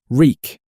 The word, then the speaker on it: Reek: Reek. I'm Reek. It rhymes with weak.